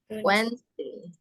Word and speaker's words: Wednesday: i to Wednesday ya cara membacanya Wednesday wesday Ni aku tulis W